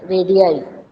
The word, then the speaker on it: radii: Radii. Well, how we will pronounce this?